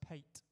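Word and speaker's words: pâté: have a good morning Pate is pronounced pate talking of a nice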